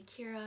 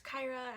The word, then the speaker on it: Kyra: names and of course people always said my name wrong did i say kira and i'd be like it's kyra and then there's just